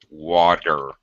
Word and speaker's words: water: have uh for example a t- sound which is uh surrounded by two vowel sounds all right this is gonna sound like well Max what does this sound like for an American Water it makes a no